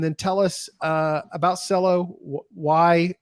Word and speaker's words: Celo: do you pronounce it cello but for pronunciation I tell people to just imagine that they're using the short form of Marcelo ah very nice way